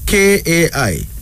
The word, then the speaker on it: Kai: in kiswahili and finally Kai k-a-i pronounced as Kai it's a female name